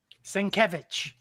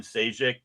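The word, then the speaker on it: Šejić: Um, and then, uh, I can never pronounce his name. Um, Skevich. Nope. Nope. Stefan, he's a Croatian. Stefan Seek.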